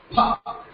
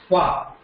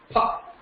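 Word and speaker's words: प: You have to put both the lips together and say pa.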